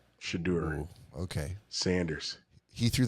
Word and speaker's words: Shedeur: Spell that. The Shadur show? Yeah. I think it's Shedeur. Shadur.